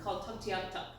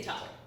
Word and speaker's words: Tuktoyaktuk: little tiny town called Tuktoyaktuk. Or a lot of people that don't know how to say it, like I've practiced a bunch of times for me to say it, they just say Tuk, T-U-K.